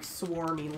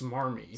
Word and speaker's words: smarmy: I think you said swarmy, so I'm like, what? It's swarmy? It's smarmy. Smarmy.